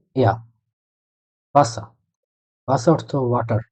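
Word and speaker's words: Wasser: ভে যেটা, ভে দিয়ে হলো ভে, আ, এস, এস, এ ইয়া ভাষা।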